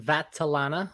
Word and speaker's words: Vattelana: my name is vatalana vatsalana it's very italian most people do not get it right it's it's pronounced just the way it's spelled it's funny some people